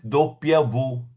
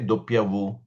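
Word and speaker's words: doppia vu: W is pronounced as doppia V. Doppia V. Double V. W, we say doppia V.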